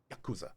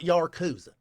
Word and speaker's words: Yakuza: That's it's Yakuza. Not Not Yakuza. It's It's not Yaruza. It's Yuza. Proper pronunciation. The emphasis is on the first syllable.